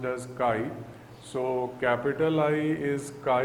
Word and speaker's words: chi: a constant of proportionality which is pronounced as chi. This is a Greek alphabet, it is pronounced as chi.